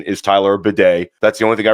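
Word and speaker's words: Tyler Badie: Denver uh Denver Broncos apparently Tyler bad's proper pronunciation is Tyler bedet that's the only thing I really learned about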